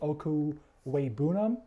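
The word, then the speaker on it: Okwuegbunam: have the greatest athleticism I do like Albert okuu way bounnam I think I've finally learned how to pronounce that name I'm not just going with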